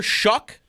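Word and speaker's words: Shough: So, expectation by the way, actually, before we even start this conversation, uh, Tyler Shuck or Well, how are we pronouncing the last name now? Yep. Shuck.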